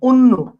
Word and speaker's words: অন্য: লাগতেছে, কিরকম লাগতেছে অন্যরকম, অন্য, তাহলে খেয়াল করেন বানানটা হচ্ছে এইটা, তোমাকে আজকে দেখতে অন্যরকম লাগতেছে, লিখছেন অ কিন্তু উচ্চারণ করতেছেন কি অন্য ও।